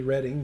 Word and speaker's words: Reading: I guess that's how you pronounce it. It's actually Reading, but Reading, yeah.